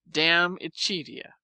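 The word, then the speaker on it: De Amicitia: We've finished Livy and De Senectute, and are now engaged with Diamicitia, pronounced Damicitia.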